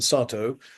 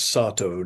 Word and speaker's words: Satow: rather on Ernest Mason Satow, 1843 to 1929. Please note the English pronunciation is Sato, not Sato, which is the Japanese pronunciation, which causes confusion because people think he's a Japanese.